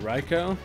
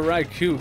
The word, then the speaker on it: Raikou: what you winking at thank you for not pronouncing it riko yeah but i've always been a raikou kind of guy i've heard people say right cow when i get in a cow also look at how